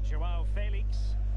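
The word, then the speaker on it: João Félix: Joao Felix.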